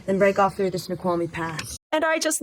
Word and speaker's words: Snoqualmie: the route to Seattle, she pronounces Snoqualmie correctly. Once we're out, we'll follow the Snake River Canyon, then break off through the Snoqualmie Pass.